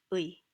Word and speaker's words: 의: It's basically two vowels melded into one, 의. So oftentimes Koreans kind of skip over it and it gets reduced to something like 에.